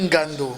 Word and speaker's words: Ngando: Tu peux encore te présenter, c'est Gando. Voilà, c'est Gando comme d'habitude. Je viens prononcer alors.